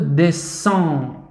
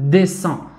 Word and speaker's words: descendre: هنا X مع EN سننطقها S. Je peux descendre. Je peux descendre. D ليس أمامها أي حرف. D ثم R مع E R. descendre.